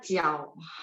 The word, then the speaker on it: 脚: Ini bacanya jiao, artinya kaki.